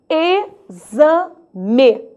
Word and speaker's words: exame: Só que o som desse X já mudou. Agora o som é de Z. Eu pronuncio exame.